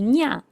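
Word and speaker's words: にゃ: Esto suena casi como si fuera una ñ del español.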